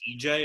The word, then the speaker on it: Ige: Simply put, yeah, I thought it was Ige also, and then I heard somebody pronounce it on yesterday's card, and apparently it's EJ, and I've been pronouncing it wrong the entire time.